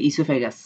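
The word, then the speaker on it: oesophagus: হ্যাঁ, বানানটা কিন্তু ও দিয়ে শুরু হয়, কিন্তু উচ্চারণ হয় যে ইসোফেগাস।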